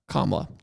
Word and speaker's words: Kamala: comma Harris is it kamla or Kamala Kamala kamla I think yeah because I want to default to Kamala but if I say